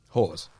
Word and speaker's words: Hawes: Because I didn't actually know how to pronounce Phil's last name. Hawes.